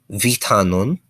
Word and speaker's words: vitanon: The V is pronounced somewhere in between a V and an F. So like as you say V, kind of take off your teeth from your bottom lip as you say it.